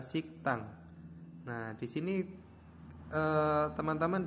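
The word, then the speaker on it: 식당: menjadi C nah contohnya Ini ada tulisannya bahwa sigdang sigdang Nah kalau misalkan ini D ya bacanya D ini adalah D karena dia berlaku hurumf bacaan maka dibacanya adalah siktang Nah di sini ee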